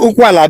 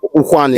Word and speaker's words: Ukwani: Is it Okwala? Be Okwani? No, Ukwani.